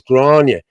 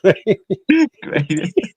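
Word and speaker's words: Gráinne: And she used to say, "My name is Grania." Well, it's fucking spelled Grainy. Okay, so I'm gonna say Grainy.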